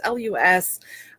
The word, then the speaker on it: LUS: I'm using is called less or loose I don't know how to pronounce it it's lus I think it stands for love love you well